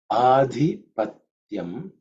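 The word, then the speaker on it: आधिपत्यम्: In terms of pronunciation, the second letter is dhi. It's an aspirated one. Mahaprana, which is the fourth letter in the Tavarga. So it has to pronounce as dhi.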